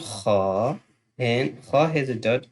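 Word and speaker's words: خ: brother name from the brothers letters, that's called Kha, and Kha has a dot on the top. So we will do this one, and this one is Kha, Kha, Kha.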